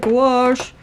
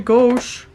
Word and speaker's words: gouache: Michelle said gouache, and it's actually gauche, or whatever.